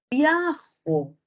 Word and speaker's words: viajo: concentramos en viajó entonces Yo me pregunto No si yo muevo la sílaba tónica de Jo no tendré otra posibilidad significativa Quién dice viajó María viajó si Yo muevo la sílaba tónica para el otro lado Ajá tengo un significado sí Qué sería viajo se dan cuenta Ah entonces yo tengo ahí la sílaba tónica en Jo pero si la muevo Podría tener viajo Ajá entonces basta una